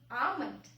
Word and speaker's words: almond: So it's almond, where L is silent.